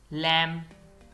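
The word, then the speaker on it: lamb: date कर्ज सब्बल Latif लैम यह लैम है इसमें भी बी नहीं पढ़ा जाएगा लैम भेड़ का बच्चा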